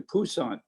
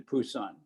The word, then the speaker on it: Busan: designated to go into busan now busan they changed the p to a b i never knew why but at any rate i was still pronouncing pusan but we never could